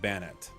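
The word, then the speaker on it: Banette: According to official sources, it's pronounced Bannet. Emphasizes on the second syllable.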